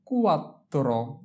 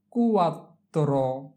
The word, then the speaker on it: quattro: Q come quattro, quattro, quattro, Q-U-Q, A-T, at, quat, T-R-O, tro, quattro, আমরা এখানে Q-U এই দুইটা অক্ষর, A-T এই দুইটা অক্ষর, এরপরে T-R-O এই তিনটে অক্ষর একসাথে উচ্চারণ করব।